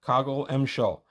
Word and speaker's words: Kogl-Emjwo: There you go, Kogl-Emjwo. I like when there's a pronunciation chart.